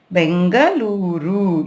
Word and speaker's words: Bengaluru: See, before it was Bangalore, but now they have changed our city's name to Bengaluru. You need to pronounce in the same way.